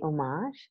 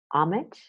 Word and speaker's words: homage: this word is interesting there are two pronunciation options in each language an American English some people say Oh Marsh and some say homage homage and the pronunciation depends a little bit on the meaning so look up the